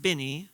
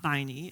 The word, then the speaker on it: Binee: also taught me that this word is pronounced Binney not by knee as some of you